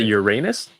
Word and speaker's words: Uranus: mario would know he might not yes it's uranus and another one i think i forget which one neptune may be you don't pronounce it uranus i do both because i speak to different